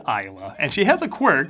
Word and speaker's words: Isla: is instead played by is it isla or esla i better look it up online and see how other people pronounce it esla fisher oh that sweet honey from wedding crashers he seems trustworthy hey yeah i know it's isla and she has a